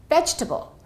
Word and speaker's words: vegetable: Faster, it sounds like this: vegetable.